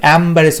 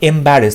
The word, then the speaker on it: embarrass: তো এম্বারেস দেখো যেটা রয়েছে এম, এখানে AM রয়েছে, এ দিয়ে শব্দটা শুরু হবে, অ্যাম্বারেস হয়ে যাচ্ছে, এখানে AM এতে অ্যাম হয়তো, তো অ্যাম্বারেস হচ্ছে, ভুল হচ্ছে শব্দটা উচ্চারণ হবে এম্বারেস।